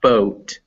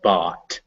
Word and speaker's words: bought: yeah but also yeah not boat but bought okay bob yeah it's